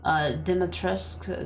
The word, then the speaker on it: Dimitrescu: Dimitrescu, not...